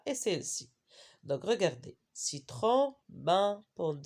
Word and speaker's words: citron: c'est quoi citron ananas dans le mot citron la lettre n on ne prononce pas mais dans le mot